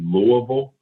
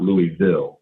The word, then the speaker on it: Louisville: to pronounce that it's it's technically louisville and not louisville i did not know